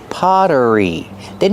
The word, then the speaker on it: pottery: The double T makes a fast D sound because it's between vowels. Pter potter. Pottery. Then use the sound like in burger with that voiced R together.